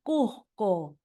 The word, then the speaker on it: Cusco: La consonante S suena como J suave cuando se pronuncia Cusco.